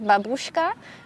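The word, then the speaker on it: бабушка: babushka the famous worried babushka actually has to be pronounced as babushka and is this letter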